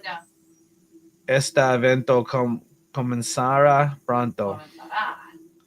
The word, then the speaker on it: comenzará: Comenzará. We gotta put the emphasis on the last A.